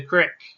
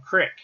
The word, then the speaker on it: creek: it doesn't matter it's i'm not saying that if you're in the mountains it's called creek and if you're on a farm it's called crick it could be either depending on the way the local people say it so that's